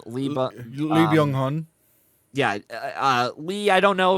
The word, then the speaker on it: Lee Byung-hun: Maybe Ethan Hawke, I would say, is like third place, but like Plemons, how do you pronounce the guy's name? Lee Byung-hun.